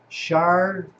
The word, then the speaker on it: charcuterie: Mark says pronounced charcuterie.